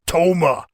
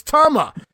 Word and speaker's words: Tama: Powers while Jessie Ventura continues to pronounce the name it's Toma as gorilla finally corrects Jesse on the pronunciation no Jess it's Tama he's only been using